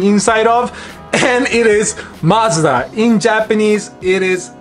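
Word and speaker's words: マツダ: of and it is Mazda in Japanese it is Matsuda it is actually not pronounced MACBA it is ma TSU da is the way how we pronounce as a Japanese person similar to Honda and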